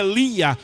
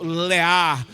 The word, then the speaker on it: Lea: ele tinha a sua filha Lia ou na pronúncia em língua original lear ele tinha Lea e